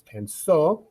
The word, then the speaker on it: pensó: I said, la palabra lleva tilde, pero sobre qué vocal? So that gives us a chance to remember that the accented syllable is always the tonic syllable there.